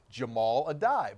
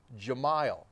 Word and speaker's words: Jahmile Addae: used to play here we were told it was Jamal a die but when he was recently hired back in as a Mountaineer assistant coach the pronounce eran it said Gemayel so our first question